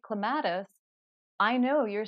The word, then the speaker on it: clematis: And after a while, when you're speaking to other people, you start to learn it is clematis, not clematis, and that can change it. But it doesn't really matter because if you say clematis, I know you're saying clematis.